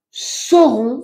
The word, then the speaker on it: saurons: Nous ne saurons, attention, saurons Serons. rien. S-A-U, pero se pronuncia S-O.